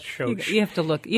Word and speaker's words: Schoch: That's pronounced Schoch.